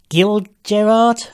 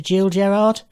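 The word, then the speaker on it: Gil Gerard: comic-con and this was guild Gerard I think is how it's pronounced right as opposed to Jill jerard Buck Rogers in Buck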